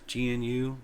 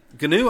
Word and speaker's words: GNU: software uses the ganu general public license and ganu is the correct pronunciation as per Richard stalman okay it's not just gnu anyway uh and Richard stalman for many years